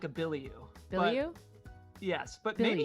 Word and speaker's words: Bilyeu: to ask so then i said billy you because of the pronunciation here if it was bilio just do b-i-l-l-y right like billy and then billy ooh probably should have done